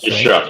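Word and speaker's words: Shough: And uh that's how we say his name. I haven't said it in a while. That's right. Shock. Shuck. Yes. A Shuck.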